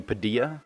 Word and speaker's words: Padilla: now moving on to Anthony's own channel Anthony padel or Padilla I think he's Spanish originally and his name is pronounced Anthony Padilla he said he wanted to have that same